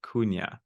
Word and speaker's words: Cunha: And I'm like, tell me how to pronounce it. And he's like, Cunha.